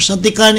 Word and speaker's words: Santicani: Santicani kasi ang ang pagbigkas natin sa kanya, doon siya sikat no?